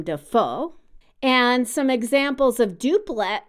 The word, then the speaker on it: Dafoe: it's a triplet rhythm because his last name is emphasized on the last syllable Willem Dafoe and some examples of